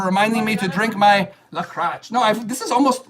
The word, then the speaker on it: LaCroix: I'm not saying like the other crotch. I'm saying LaCroix.